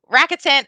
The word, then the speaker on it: Rakuten: So how do you spell that? Like Rakuten? R-A-K. It used to be eBay. Oh, Rakuten. Yeah, Rakuten. Rakuten. Oh, is it Rakuten?